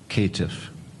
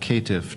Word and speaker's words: caitiff: Caitiff. Can you use it in a sentence? The story centers on Batman's encounters with an enigmatic caitiff named the Riddler.